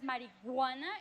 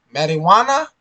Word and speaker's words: marijuana: mariana marijuana marijuana marijuana people who says mariguana is like they put a g or something like marijuana marijuana this is a correct way to say it so you can use